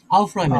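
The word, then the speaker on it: aufräumen: আউফ রয়মেন। আউফ। আউফ রয়মেন। এই যে এর উপরে umlaut রয়েছে আর তারপরে ইউ রয়েছে। এজন্য টোটালি মিলে উচ্চারণ হয় আউফ রয় আউফ রহমান।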